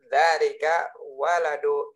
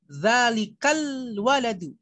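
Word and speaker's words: ذلكَ الولدُ: Dzalika waladu ibnul mudarrisi. Nah, coba bacanya yang jelas. Dzalika waladu ibnul mudarrisi. Chris Hartoyo bukan dzalika waladu, tapi ada alnya situ. Dzalikal waladu.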